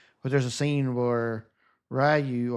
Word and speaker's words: Ryu: there's a scene where Ryu or Rue, I'm not sure how he pronounces it, how they pronounce his name, but I think it's Rue.